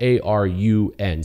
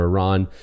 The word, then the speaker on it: Arun: The name is spelled A-R-U-N, so Arun or Aaron.